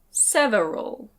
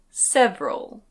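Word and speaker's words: several: Non-native English speakers tend to pronounce this "sev-e-ral". Sev-e-ral. With three syllables. That's not incorrect - you can say it that way - but most of the time native speakers say "sev-ral". Sev-ral. With two syllables.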